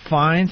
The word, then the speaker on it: Fiennes: this I think Rafe even though his name is spelled Ralph yeah Ralph Fiennes it's race race finds has got to be gay that is my